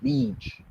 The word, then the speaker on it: beach: Esa no se pronuncia igual, se pronuncia como bitch. ¿Ok? El sonido es mucho más corto que si dijéramos la palabra beach.